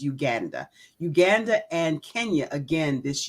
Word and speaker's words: Uganda: Yes, I will be returning to Uganda, and we say Uganda. The proper pronunciation, by the way, is Uganda.